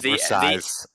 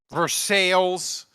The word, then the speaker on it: Versailles: Please keep calling it Versailles. The S is silent, Ralph, at the end there. Just so you know. Versailles.